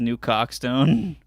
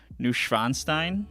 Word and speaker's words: Neuschwanstein: The way you pronounced it is New Cockstone. Neuschwanstein.